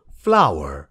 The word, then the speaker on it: flour: यसो हेर्दा त फ्लोर भनिन्छ जस्तो लाग्छ तर यसको करेक्ट प्रोनन्सिएसन हो फ्लावर हुन त F-L-O-W-E-R फ्लावर